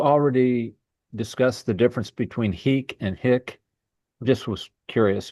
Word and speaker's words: hic: So is it actually pronounced heek? Well, the long I, yes, heek. Yeah, heek, not hick. Not hick.